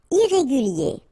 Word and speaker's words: irrégulier: Irrégulier. Okay, remember, IER at the end of your word here, it will be ye, okay?